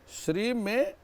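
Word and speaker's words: श्रीं: ले ओम श्रीम नमः श्री में श्री के ऊपर अनुस्वार है और इस प्रकार से श्रीम शब्द बनता है श्रीम शब्द का उसमें नाकार उच्चारण नहीं है मकार का उच्चारण है ऐसा इस मंत्र का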